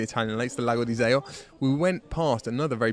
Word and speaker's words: Iseo: Is that a correct pronunciation? Iseo. I said it wrong earlier then.